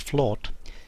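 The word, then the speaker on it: flōt: are derived from an old norse word flawed f l OT pronounced flawed meaning a level area of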